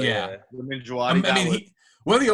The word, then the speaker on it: Djawadi: Shout out, how do you pronounce his name? Duwaldi? Ramin Djawadi, yeah. Ramin Djawadi.